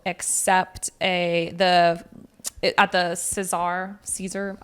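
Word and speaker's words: César: a the at the Cesar Caesar. I'm going to say Caesar. I know that's not how you say it in French.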